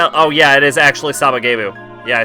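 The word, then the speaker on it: Sabagebu!: Like, there's oh yeah, it is actually Sabagebu.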